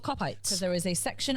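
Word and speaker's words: Kopite: And do you want to know why they're called cop-ites? Because there is a section of the ground called the Cop. Nope, because it Cop-ites. rhymes with gobshites.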